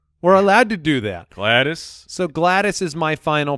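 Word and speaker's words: Gladys: with a name that doesn't even look like it's spelled correctly glattus oh glattus I'm going with glattus which is g l a d Ys because we can do that we're allowed to do that glattus so glattus is my final pick to join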